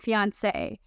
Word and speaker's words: fiancé: French language, fiance and fiancé. And if you're wondering whether or not these two words have different pronunciations, the answer is no.